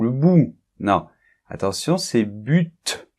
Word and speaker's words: but: Hey Pierre, c'est le but » ou le bout. Non, attention, c'est but. On prononce le T, d'accord? Bien, c'est un peu une exception. Ok, donc pourquoi j'ai commencé par le but et je l'ai souligné?